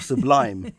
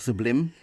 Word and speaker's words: Sublime: But it's going to be interesting now, the people that are now going to call it either sublime or sublime. Yes. It's spelt sublime, but that just sounds silly. Yeah, we'll see what happens once it's open in the summer.